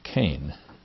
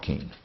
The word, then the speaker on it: Kean: and they said because if it's k-e-a-n pronounced kane that's irish the scots will pronounce it keen but there are a